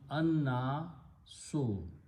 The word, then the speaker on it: النَّاس: And al, noon is a shamsi letter, so lam, sound of lam will go away, and you will pronounce anna so.